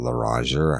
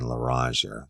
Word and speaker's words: Loranger: Y'all don't know about Loranger, how it's spelled. It's Lorranger.